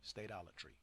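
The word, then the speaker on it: statolatry: You have the long, I forgot what the hell it's called over the A. So you say states, not stats. Yeah, long Alatry. Stadolatry.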